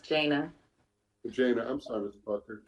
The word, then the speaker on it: Jana: My name is pronounced Jana.